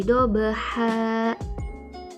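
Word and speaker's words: ضبحا: Jadi bukan lagi dobahan tapi dobaha, dan kita wakafkan atau berhenti.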